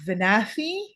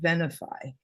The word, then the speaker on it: Venafi: years and I said I think venafi and they correct to be no no it's pronounced vanify and I'm very good